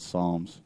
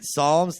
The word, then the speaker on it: Psalms: The Fairy Tale called Psalms it starts with a P that's kind of like my last name yeah the Bible started it I don't think I've seen that Disney movie yet no the Bible you're you're right Psalms they are the ones that started the silent oh is that the